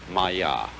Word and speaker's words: maya: this kind of thing is the sanskrit term maya i'm going to write that down for you pronounced maya and this word comes from a root in